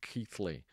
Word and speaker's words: Keighley: And for non-English people that's actually pronounced Keighley.